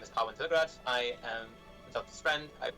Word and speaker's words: Thilagaraj: My last name is Thilagaraj. Thilagaraj. Yes, Thilagaraj. Yeah, Thilagaraj. That's it. So I've always told people that it's like a garage, Thilagaraj.